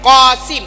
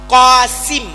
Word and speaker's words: Qasim: Pada kartu identitas, tertulis Kasim, tetapi seharusnya Qasim, bukan Qosim atau Konsim.